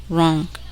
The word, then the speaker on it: wrong: The letter W is silent in the following words. Listen and repeat each word after the speaker. Who, home, house, hall, ran, right, wrong, sword, to, toward, knowledge.